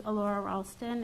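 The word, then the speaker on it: Allura Ralston: hi everyone my name is elora ralston it's spelled a-l-l-u-r-a-r-a-l-s-t-o-n i live at 56-11 abbey court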